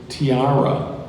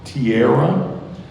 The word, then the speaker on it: tiara: turn thank you this has more than one pronunciation and could also be confused with another word so I'll give you a little more information the word is Tiara can also be pronounced Tierra it is a noun meaning